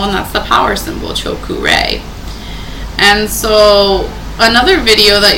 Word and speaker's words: Cho-Ku-Rei: This is how you pronounce Cho-Ku-Rei. It's 3 syllables. Cho, C-H-O, Ku, K-U, and Rei.